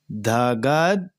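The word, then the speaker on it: धगद्: विलोल विच वारी विराजमान मानू धनी धगत यहां देखिए यह जो आधा द बोला जाएगा और ध जो शब्द है वह आगे वाले में उच्चारण किया जाएगा धगद धगद धगज ज आएगा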